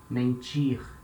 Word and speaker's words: mentir: When letter N comes at the end of a syllable, it will have the nasal sound, the famous nasal sound. For example, mentir.